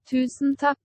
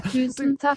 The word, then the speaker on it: Tusen takk: Spell it for me. TUSEN space TAKK. Like tak skal du ha. Okay. Ready? Yep. Tusen takk.